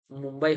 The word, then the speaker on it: मुंबई: बम्बई, लेकिन होता क्या चीज़ है? मुंबई होता है ना, सही उच्चारण क्या है? मुंबई, मुंबई।